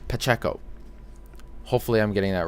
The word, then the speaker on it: Pacheco: Jason Aaron, Carlos Pancheo. Sorry, I'm not pronouncing that right. Pacheco. There's no N. Pacheco.